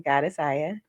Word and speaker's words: Goddess Aya: May you please pronounce your name? Yes, please introduce yourself to the peoples. Everybody, I'm Godessa.